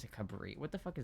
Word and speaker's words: Cabrio: It's a Cabrio.